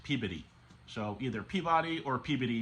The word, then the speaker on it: Peabody: Now, from when I lived in Massachusetts, I'm told that's pronounced Peabody.